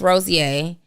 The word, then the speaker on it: Rozier: Early in that year, David, myself, Marcus Rozier, I always call him Rozier because it's how it's spelled, and Marketing by Monray.